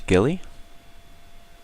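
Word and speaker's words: Guile: have a pacifism Rangers Gilly it's kind of funny I always see people pronounce that word wrong that's actually ghilly like a ghilly suit uh show Valor time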